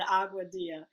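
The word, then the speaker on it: Aguadilla: And that's being in Agua Dia, which is spelled Dilla on the end.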